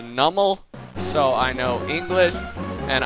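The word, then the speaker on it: Numel: I mean, if you don't know grammar, and I know grammar, I know that it's pronounced Nummel, so I know English, And I know that something.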